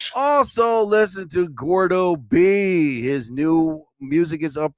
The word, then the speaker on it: Gordo B: Again, people think it's all one word. Gord. No. And it's like Gorda B. No, it's not gourd. It's not engorged. All right. It's Gordo B.